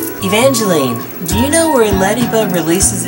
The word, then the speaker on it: Ledyba: Ledyba, okay, I said it right. I said it correctly.